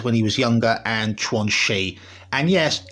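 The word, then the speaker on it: Quanxi: This is previously what would be Kashibbe as when he was younger and Tuansi. And yes, it's actually pronounced Twanchi, notwhi.wani.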